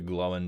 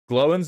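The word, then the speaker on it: Glóin: Glowin's name is one syllable, by the way. Are you telling me this man's name is Glowin? Glowing.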